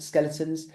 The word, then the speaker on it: Zkeletonz: find us the band skeletons obviously it's spelled Zed k e l e t o n z but that's on Instagram